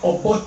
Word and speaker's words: Obote: His name is Obote.